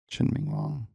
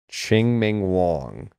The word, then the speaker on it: Chien-Ming Wang: Wong I believe yeah I I didn't honestly think we were pronouncing either of the G's if I recall correctly but it's been a long time since I've heard someone say his name out loud Chin Ming Wong chinman